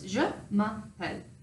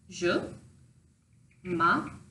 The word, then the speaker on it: je m'appelle: So it's je m'appelle. So it's phonetically pronounced je m'appelle.